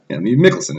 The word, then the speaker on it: Mikkelsen: Mikkelsen is how you say his name.